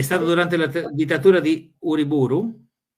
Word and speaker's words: Uriburu: ¿Se pronuncia el apellido así, Uriburu? Sì, è stato durante la dittatura di Uriburu.